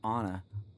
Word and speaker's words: Anna: I need to find Anna. See, Anna. Sorry, guys. They do pronounce it Anna, but I want to say Anna so bad.